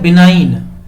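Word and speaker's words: benign: अगला है बिनाइन। जी साइलेंट है, बिनाइन।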